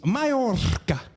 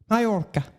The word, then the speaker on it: Mallorca: It's Mallorca. Mallorca. Shamu is Mallorca. That's how you pronounce it.